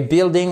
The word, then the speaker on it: building: En anglais, et building, on ne prononce pas le i, c'est pour ça que je vous disais qu'on est à cheval entre le vocabulaire et la grammaire.